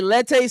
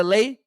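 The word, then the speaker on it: Leite: Some people say Lette, some people say Lay. But I've heard people say Lay and Lete, so I'm gonna say Carla Lay.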